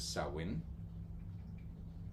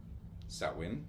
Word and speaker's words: Samhain: The most prominent and most um used pronunciations of it is sawin like a sao s o w and in in sin or sawin and they can be used in in interchangeably inter.